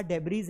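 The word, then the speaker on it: debris: अच्छा मलबा को आपने देखा होगा जो मलबा होता है उसे ये लिखा डेबरीज है तो लोग डेबरीज ही पढ़ेंगे लेकिन इसे डेबरी पढ़ा जाता है नॉट डेबज यहां देखो लिखा हुआ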